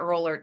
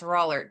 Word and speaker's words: Rollert: It was leadership in politics, and with professors John Paul, and I pronounced his last name wrong in the recording. It's not Rollert, it's Rollert. John Paul Rollert and George Wendt.